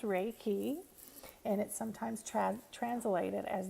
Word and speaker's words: Reiki: own energy as you could hear Reiki is pronounced Reiki and it sometimes translated as the universal life